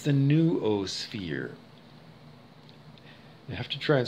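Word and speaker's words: noosphere: idea that i have of the it's the new o sphere you have to try and spell it it's n-o-o sphere s-p-h-e-r-e new o-sphere um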